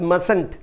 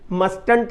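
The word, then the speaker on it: mustn't: आगे भी इसके कंस्ट्रक्शन है, subject plus can't plus infinity without to, subject plus मसंट, मस्टंट नहीं कहते, टी साइलेंट होता है।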